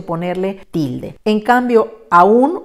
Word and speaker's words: aún: un que en realidad sin tilde diría aún con diptongo y aún con tilde rompiendo lo independientemente de cómo